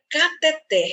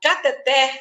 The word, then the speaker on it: cateter: A palavra cateter termina em R.